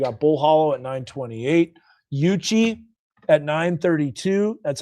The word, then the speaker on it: Yuchi: So, you got Bull Hollow at 928, Yuchi at 932. That's how you pronounce that.